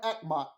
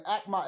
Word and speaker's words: Achamoth: Then you have Akmat. These are all different aspirations or versions of the Divine Mother. And Akmat is spelled Achamoth.